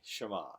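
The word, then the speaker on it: Shammah: name Jehovah Shama and we'll say it this way ah deny Shama other nice Shama means the Lord is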